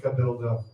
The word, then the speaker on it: Cabildo: I mean, what do you think rhymes with Cabildo? Anybody? Just yell it out. There was way too many of you who fucking yelled out. First of all, fuck you. Yes, dildo. Dildo is what it rhymes with.